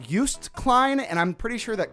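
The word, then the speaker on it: Joost Klein: pronounce Juiced Klein correctly it's not Juiced Klein he's not a goddamn orange okay we can't just juice him and drink it it's used Klein and I'm pretty sure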